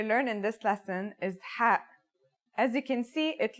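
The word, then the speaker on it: ح: no counterpart in English it sounds like the sound you make when trying to cool your mouth and throat after eating something very spicy the closest English counterpart to the sound is H the only difference is that it comes from a point deeper down in your throat just like this try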